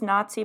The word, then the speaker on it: Nazi: So Pakidze's first name means tender in Georgian, and it rhymes with Ozzy. Jennifer Shahadi makes that clear, right? First name is Nazi, so you can understand.